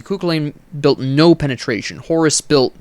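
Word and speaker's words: Kukulkan: __ ] lane built kooklain let me pronounce his name correctly kukulen built no penetration horus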